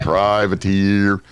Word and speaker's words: Privateer: own aerospace company called Privateer. It's TEER on it. That's why I'm pronouncing it that way.